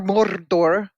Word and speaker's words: Mordor: Well pronounced. Mordor.